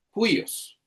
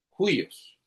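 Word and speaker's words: υἱός: Se escribe como una comilla con curva hacia la izquierda y se pronuncia como una J, como en la palabra juyos. Juos.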